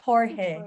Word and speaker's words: Jorge: it coach jorge or is it coach george pronunciation butcher speaking countries we're not that close so coach jorge it's coach jorge then all right i want